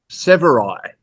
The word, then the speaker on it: Severeid: It's Severeid. Severai, like samurai. Yeah, Yeah, well, Severeid, like I apostrophe Severai. D. Okay. Yeah, yeah, Severai. Severai.